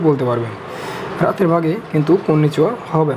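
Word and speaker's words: こんにちは: কন্নিচিওর বেলায় এটার উচ্চারণ ওয়া হবে, এবং পার্টিকেলের সাথেও পার্টিকেল যখন আপনি পার্টিকেল দেখবেন তখন দেখবেন আপনি হা না, এর উচ্চারণ হবে ওয়া।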